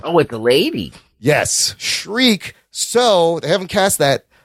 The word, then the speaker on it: Shriek: How do you say Shriek, Jesus Shriek? Christ. Not Shrike. Shrike is that was in the Agents of S.H.I.E.L.D. Shriek will be in the Venom sequel.